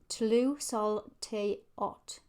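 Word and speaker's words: Tlazolteotl: So it's pronounced Tlu Sol Te Ot.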